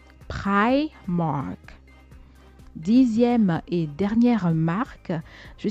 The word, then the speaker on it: Primark: Cette marque se retrouve à se faire appeler Primark par les Français. Et la bonne prononciation, c'est plutôt Primark. Primark.